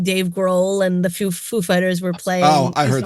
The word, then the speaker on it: Foo Fighters: on purpose that he's he asked like is it Foo or Fighters and he was like oh no put the emphasis on Fighters well he asked yeah he asked him how he pronounced it he was like Foo Fighters he's like the accents on Fighters they set him up